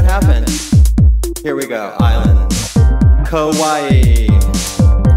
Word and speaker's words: Kauai: Kauai. Rhymes with, obviously, Hawaii.